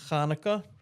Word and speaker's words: Chanukah: Um in Hebrew it's actually pronounced Kaneka. Um, for many people it's hard to um do the um let me try. Kaneka.